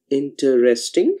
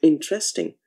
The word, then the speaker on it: interesting: Now, do you really say it as interesting, a four-syllabic word, or are you saying it as interesting, a three-syllabic word?